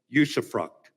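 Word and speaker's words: usufruct: the next generation to what thomas jefferson called yusuf fruct it's spelled u-s-u-f-r-u-c-t and if you think about it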